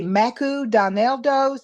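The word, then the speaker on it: マクドナルド: And so I'd say Maku Donaldo's. That's how they pronounce McDonald's.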